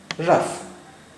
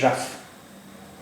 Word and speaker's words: rough: ओ एफ एफ E coffee coffee fat coffee रफ आर ओ यू जी एच रफ रफ photo P एच ओ टी O photo